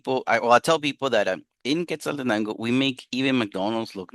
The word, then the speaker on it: Quetzaltenango: I would like to hear you guys try to say that, pronounce it. Even Spanish speakers have trouble saying the name. It is called Quetzaltenango.